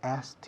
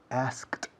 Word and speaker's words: asked: Un momento, I asked you. Ahora bien, Estoy comiéndome una letra grande, que es la K. Un purista dirá asked you, I asked you.